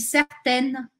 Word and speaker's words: certain: que où je suis certaine que attention la différence de prononciation je suis certain je suis certaine les exemples je suis